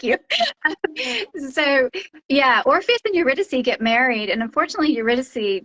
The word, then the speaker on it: Eurydice: So the basis of that is your I always butcher the pronunciation. Eurydice. Oh yeah, The that's girl. good. Yeah, Eurydice. Eurydice. You did it perfectly.